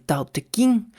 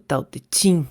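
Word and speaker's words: Tao Te Ching: estaban directamente vinculadas con el ta King o ta Ching dependiendo de la pronunciación un texto editado en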